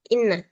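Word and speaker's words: إنّ: Kalau tidak ada hamzahnya bagaimana kita bisa tahu bacanya itu anna atau inna. Nah, di sini ada keterangannya fi awalil jumlah inna. Nah, kalau di awal jumlah maka kita baca dengan inna seperti di contoh yang jim inna.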